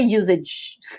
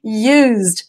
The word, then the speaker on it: used: later but used okay I don't say usage we say used I used to go